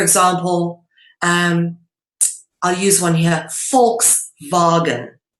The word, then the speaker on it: Volkswagen: So, for example, I'll use one here, Volkswagen, right? The V is pronounced as an F in English, and the W is pronounced as a V in English.